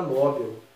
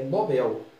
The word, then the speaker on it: Nobel: Muita gente fala Nobel, né, no português popular. A pronúncia padrão, formal, é Nobel. A tônica na última. Prêmio Nobel.